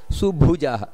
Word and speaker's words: ಸುಭುಜೋ: ಪ್ರಕಾಶನಃ ಇಲ್ಲಿ ಉಚ್ಚಾರಣೆಯನ್ನು ಮಾಡಬೇಕಾದರೆ ಸುಭುಜಹ ಸುಬ್ಬು ಮಹಾಪ್ರಾಣ ಇದೆ ಸುಭುಜೋ ಹಾಗೆ ದುರ್ಧರೋ ಧ ಅನ್ನೋದು ಮಹಾಪ್ರಾಣ